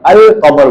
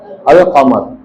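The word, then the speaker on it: القمر: और जिसमें अल लाम की आवाज आती है जैसे कमर है। कमर किसे कहते हैं? कमर कहते हैं मून को। अल कमर बोलते हैं। क्या बोलते हैं? अल कमर। यहां अल के बाद आ रही है। यानी कि काफ जो है वो क्या हुआ? मून लेटर हुआ।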